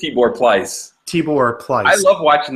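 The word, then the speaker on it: Tibor Pleiss: completely forgot that uh first of all that's how you say his name which is surprising me because I just been saying tipper please t-bird think it's Tibor plies Tibor clutch I love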